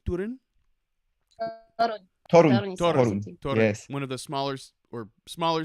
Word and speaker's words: Toruń: Toruń. Toruń.